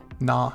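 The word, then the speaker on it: な: we just learned the na column so we have na which looks like like a naughty nun you can see her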